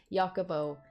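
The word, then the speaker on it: Jacobo: felt some betrayal and yakubo i'm saying it correctly this time jakobo felt betrayal as his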